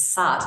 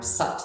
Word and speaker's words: sat: a mantra called it's sat sat but it's it's pronounced like soot kind of more like foot almost or Sut like butt kind of